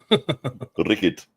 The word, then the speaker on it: Rickard: Um, for some reason, uh, a D is a T and then the Yeah.